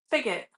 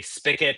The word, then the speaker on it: spigot: I think both pronunciations are actually like both pronunciations are acceptable. They both have the same definition. It seems like it's a regional thing as to whether or not you say spigot or spigot.